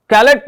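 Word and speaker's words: chelate: बनेगी तो स्टेबिलिटी बढ़ेगी, इसीलिए इसको हम लोग कैलेट लिगेंड के नाम से भी जानते हैं, हालांकि इसको प्रोनाउंसिएशन अक्सर चैलेट के नाम से भी किया जाता है। ठीक है ना, चैलेट से भी करते हैं, कैलेट भी बोला जाता है।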